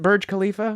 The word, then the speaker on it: Burj Khalifa: Is that how you pronounce it? Burj Khalifa?